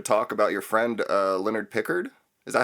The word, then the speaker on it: Pickard: I kind of wanted to talk about your friend Leonard Pickard. Is that how you say his name, or Pickard? Like the captain, yeah.